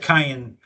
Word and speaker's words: Cayenne: So, so I think they would be thrilled to buy a Porsche Cayenne. That's how you say it, Cayenne.